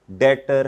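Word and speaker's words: debtor: वो हमारा डेटर है। वो हमारा क्या है? ये लब्ज़ है डी ई बी टी ओ आर। इधर बी को साइलेंट। बी साइलेंट है।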